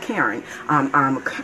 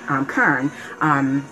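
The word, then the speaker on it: CERN: it was a picture of a machine called Kern. Kern. It's spelled C-E-R-N.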